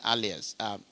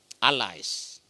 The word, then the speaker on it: allies: Yeah, it should be allies, the pronunciation, but I know what I'm talking about. You know what I've... It's like America, Australia is one of their allies, whether alias or alias. Englishman, what is it? Is it what they call... Australia is one of America's allies. How do you pronounce it in Australia? Allies. You see, you listen to him. Can you say it again so that we learn?